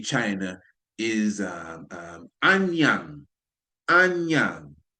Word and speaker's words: Anyang: the Shang dynasty China is um um Anyang Anyang. It's spelled it's spelled a n y a n g.